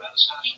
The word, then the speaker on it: Manastash: All right, how do you pronounce the name of your town, Manastash? Manastash.